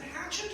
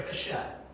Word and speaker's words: Hachette: Is it Hatchet or Hachette? Hatchet? Okay, I've always made that a soft C.